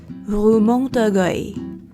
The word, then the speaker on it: Rue Montorgueil: About a 10-minute walk from the Louvre is, how do you pronounce this? Rue Montorgueil.